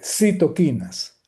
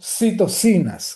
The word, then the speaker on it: citoquinas: Por cierto, desde el punto de vista semántico, este, yo prefiero la pronunciación y de hecho, desde el punto de vista etimológico es la correcta, este citoquinas y no citocinas como algunos dicen por allí, ¿okay?